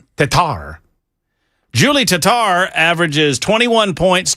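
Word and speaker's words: Tetart: How would I Hey, hey, Jackson, you're our official pronouncer. T E T A R T and it's French. Tatar Tatar.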